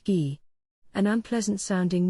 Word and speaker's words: Guy: well that earned him his name guy pronounced ghee an unpleasant sounding name